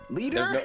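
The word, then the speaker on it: Leder: Leader. It's pronounced leader, but it's spelled All right.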